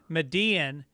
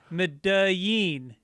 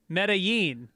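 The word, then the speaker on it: Medellín: as pronounced when describing how someone corrected your mispronunciation of medean and then also mispronounced the colombian capital as medean it's not a tyler perry movie instead of correctly as medain medellin yeah yeah again when correcting yourself maybe work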